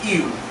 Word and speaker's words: ewe: A female is an ewe. E-W-E, an ewe. Pronounced ewe. Ewe. Okay.